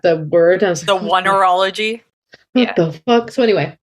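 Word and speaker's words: oneirology: It looks like oneurology. Oneurology is exactly it.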